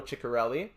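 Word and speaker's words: Ciccarelli: Yari Curry and Below Dino chicarelli and yes that's how you pronounce his name his 911 assists would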